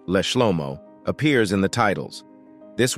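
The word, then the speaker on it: לשלמה: In the Psalms, specifically hymns 72 and 127, the Hebrew word leshlomo, pronounced leshlomo, appears in the titles.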